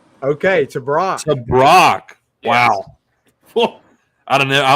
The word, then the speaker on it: Tebrake: I mean, it gets butchered all the time, so don't do that, but it's Tebrake. Okay, Tebrake.